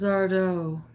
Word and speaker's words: Zardo: My name is Zardo. Accent on the O.